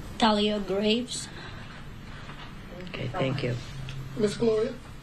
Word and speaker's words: Thalia Graves: Do you want to pronounce her name? Thalia Graves.